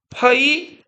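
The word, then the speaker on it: 淮河: 어,이 황하나 양찌강이면 작죠?이 강을 우리말로는 회하라고 불러요. 회하. 자, 이거를 중국어로 쓰면 잘 알아두세요. 뭐라고 쓰냐면 파이어 이렇게 불러요.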